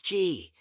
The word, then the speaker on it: Qi: a vital energy called Chi pronounce Chi that flows through specific